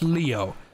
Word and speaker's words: Leo: It's written with the kanji for lion to be sure, but it's pronounced Leo.